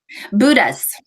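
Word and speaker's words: Bhutas: How do you pronounce what they are? Buddhas.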